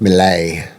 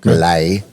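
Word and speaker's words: Milei: It's like mille. M I L E I. But I don't know how to pronounce it. Millay. Okay. Millay. That does sound right. Malay.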